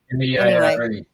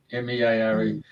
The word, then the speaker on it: Meare: Meare. It's spelled Mere. Meare.